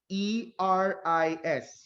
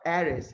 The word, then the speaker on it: Eris: E-R-I-S. Let's be clear with the pronunciation. It's Eris, not Aris.